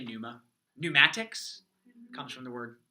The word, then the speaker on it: pneuma: university world yeah you you don't have to say Ponemah you don't pronounce all those first two letters it's it's a little hard but you can just say pneumo pneumatics comes from the